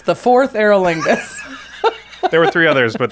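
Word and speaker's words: Forth Eorlingas: the next one is fourth aerolingus it is like go forth or call forth yeah I didn't say it right I should have yelled it anyway it's the fourth aerolingus there were three others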